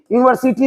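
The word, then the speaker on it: university: यूनिवर्सिटी मैंने लिखा यूनिवर्सिटी यूनिवर्सिटी तो लिखने को लिख दिया लेकिन आप ये देखो कि यू से भले शुरू है लेकिन उच्चारण य से आ रहा है इसलिए इसके पहले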